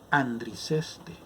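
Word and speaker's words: ἀνδρίζεσθε: La palabra griega es andriceste. Así se pronuncia en griego.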